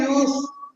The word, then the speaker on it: ewe: EWE. It is pronounced as a U. The pronunciation is a U. U. Not Eve.